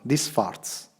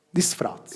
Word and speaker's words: disfraz: Disfarz. Non si pronuncia... Disfarz. Disfraz. Disfraz. In spagnolo la Z segge Th, quindi disfraz.